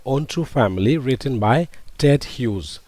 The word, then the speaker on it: Ted Hughes: Don't say Ted Huges. Okay. I heard many people pronouncing it Ted Hues. But this is one syllable, right? Ted Hughes. A hues. It is not dyic. It a single syllable. Okay. Ted Hughes. not Ted Huges.